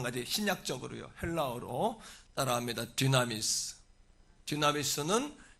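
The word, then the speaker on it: δύναμις: 디나미스는 여러분 권능이라는 단어를 디나미스라고 읽습니다. 단어로 표기합니다.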